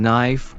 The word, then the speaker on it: knife: always always catch me off guard oh yes silent letters can be quite sneaky take the K in knife or the b in doubt for instance they're